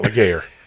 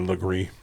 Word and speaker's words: Legare: Yeah, it's not Legare. It's Legree. It looks exactly like Legree until I was like, no, it's Legree.